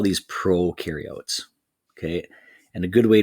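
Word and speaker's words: prokaryote: picture we call these Pro carots okay and a good way to remember that based on on the Ed puzzle they said Pro rhymes with no so no nucleus in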